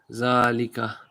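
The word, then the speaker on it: ذلك: Zalika is pronounced Zalika, but it is written without the alif.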